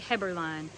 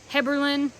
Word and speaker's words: Heberlein: Heberlein. Heberlein is probably how you pronounce it, but I've always said Heberlein, but I really think it's Heberlein. And that is German.